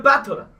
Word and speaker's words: Battler: It's made up of the characters for fight and person, and it's pronounced battler.